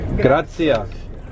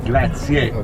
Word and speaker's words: Grazie: Grazia. Not grazia. Grazie. Grazie. Grazie, it means something else.